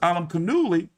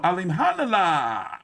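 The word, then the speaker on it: Alimkhanuly: that there Andre versus Alam cani no Alim Hana I know how to pronounce his name now Demetrius Andre versus Jen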